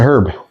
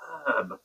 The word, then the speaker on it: herb: L of Americans May it's a herb with an H herb on the word grabbing some herbs from the put put the herb on the plate herb